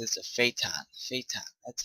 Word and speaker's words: Phaeton: Phaeton, that's how you say it.